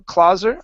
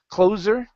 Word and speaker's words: closer: um so first up it's closer instead of clo clauser sorry closer with a z sound it's close closer closer uh the closer it is